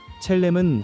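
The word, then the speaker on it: צלם: 여기서 형상이라는 말은 히브리어 발음으로 첼렘입니다. 첼렘은 하나님을 닮은 모습, 하나님의 성품과 영광을 반영하도록 지음받았다는 의미입니다.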